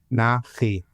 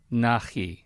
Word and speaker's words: Nachi: Please pronounce it correctly for me. Nachi. Nachi.